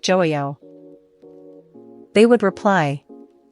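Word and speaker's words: 좋아요: The j in is a soft j sound, similar to the j in jeep, not a harsh ch sound. There's often silent, making it sound more like joayo.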